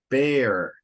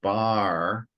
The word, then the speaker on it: bear: And remember, when there's an E, a silent E, so B-A-R-E, the silent E means the vowel before that on the other side of a consonant. In this case, the R is open. So it's bear, not bar.